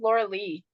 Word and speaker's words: Lorelei: It's spelled Lorelei, pronounced Laura Lee.